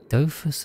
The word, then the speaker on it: Dofus: Dofus is... Because Hispanics don't give it. The username came from both names. So it's a French MMORPG. So it's Dofu? Dofu? That would be a French pronunciation, right?